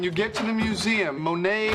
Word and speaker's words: Monet: Okay, now remember, when you get to the museum, Monet is not spelled M-O-N-A-Y. I wrote that out phonetically for you.